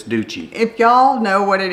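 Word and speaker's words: Duchi: ducci de aquaviva and I believe that's actually pronounced as dookie de it can't be y'all it just can't be d u c h i dookie that's unfortunate in the Italian language in the American language it's duci if y'all know what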